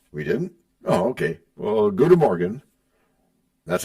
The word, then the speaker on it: goedemorgen: Well, goedemorgen.